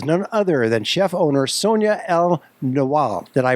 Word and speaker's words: El-Nawal: my guest is none other than chef/owner Sonia L know allah did i pronounce it crow yes you did great excellent